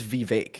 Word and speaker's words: Vivek: I think it's Vivek. It's Vivek like cake. I believe is the. Maybe yeah, it might be. Is the right way to say it.